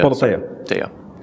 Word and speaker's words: Politeia: incentives for somebody to vote on Politeia or Politeia? Politeia. We actually did ask a Greek person how to pronounce it. So we are relatively sure it's accurate at this point.